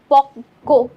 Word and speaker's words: পক্ক: এই জন্য দেখো ককে আমাদের দুইবার উচ্চারণ করতে হয়েছে, পক্ক, ক, ক দুইটা ক, এটাই কারণ।